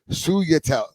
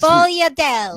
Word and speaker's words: sfogliatelle: But it's Suyatel. No. Suyatel. It's something a like that. sfogliatelle. No, it's not for you. Sfolia. No, say the, you have to pronounce the S. Sfogliatelle. That's how you say it.